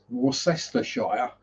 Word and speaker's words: Worcestershire: wickets, because at some point they're going to pronounce one of those W's as a V. Worcestershire, yes.